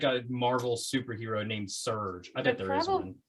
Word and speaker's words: Serge: bert colbert serge serge a man named serge or sergey maybe spell it s-e-r-g-e that's sergey could be either certain it's sergey um mr uh sergey or serge colbert please although if i